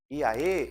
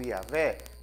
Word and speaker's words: Iavé: Iaê ou Iavé, pode ser pronunciado dessas duas maneiras, né? Mas Iavé, vamos falar Iavé.